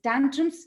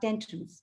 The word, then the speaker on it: tantrums: dinner and then again tantrums is tantrums not tantrums okay so this could